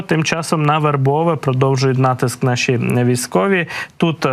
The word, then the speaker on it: Вербове: відстані від вербового розташовані вербове правильний наголос так в наші військові в